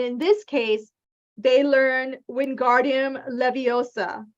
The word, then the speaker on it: Wingardium Leviosa: And in this case, they learn Wingardium Leviosa, right? It's Wingardium Leviosa. Make the gar nice and long. Wingardium Leviosa.